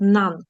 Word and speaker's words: none: Ось це слово читається через звук А. Він малюється як шалашик. В транскрипції хто маньяк е слоничків може подивитися. Ее звук а. Шалашик нан читається.